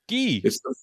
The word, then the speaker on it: Guy: I'm just going to, not to jump on this, but my mother liked it pronounced Guy. It's like it's just a thing. Guy. It's the French way, man.